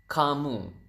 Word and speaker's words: kamu: do you say you you is kamu so Ka and mo so you have kamu and then how do